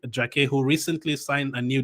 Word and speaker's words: Jacquet: I'm saying all of this in the French u the correct French pronunciation. I mean you can say Ren if you want. You can say Jaket if you want. It's Jeremy Jak and Renee until June 2029.